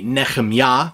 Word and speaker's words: Nehemiah: the book of okay now the proper or closer to proper way to say this in Hebrew would be nechemya or nechum Yahoo but we often hear it in English as Nehemiah but it is chapter 2 and verse 13.